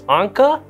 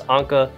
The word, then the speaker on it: Ankha: we start this video i've seen two ways to pronounce her name it's anka or ank i kinda like saying ankh so i'm gonna stick